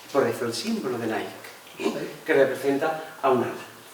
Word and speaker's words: Nike: en la marca Nike todo el mundo pronuncia Nike pero evidentemente está reproduciendo la palabra griega niik que significacia Victoria aquí